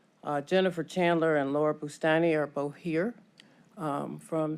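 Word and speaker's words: Boustani: names for the record my name is Laura bustani I'm Jennifer Chandler all right um so may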